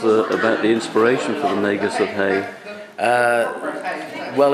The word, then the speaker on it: Magus: Magus with a hard G, actually. Magus with a hard G.